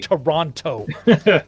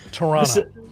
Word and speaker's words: Toronto: for toronto uh and notice i do not pronounce the t it's a great way to know you're not from canada the second team toronto toronto the second chapter oronto